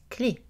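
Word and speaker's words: clef: obtient e et de la lettre f dans clé est muette donc on a une voyelle fermé clé on peut aussi écrire ce mot c est le accent aigu orthographe plus proche de sa prononciation par contre chef est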